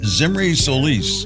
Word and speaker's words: Zimri Solis: walk and roll live and today's guest is zimy Solis am I pronouncing that right yes you got it very